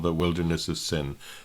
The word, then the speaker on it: Sin: called the wilderness of Sin. That name Sin, by the way, has no theological significance. It's just an ancient term for that area that phonetically to us sounds like the word sin.